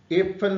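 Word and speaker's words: Äpfel: यहां पे देखिए ये ए उमलाउड है तो उसको हम ए प्रोनाउंस करेंगे। जो अपफल है उसमें हम आ बोलेंगे क्योंकि ये विदाउट उमलाउड है और जो एफल है इसमें ए उमट है तो उसको इसके लिए हम इसको एफ एफल बोलेंगे।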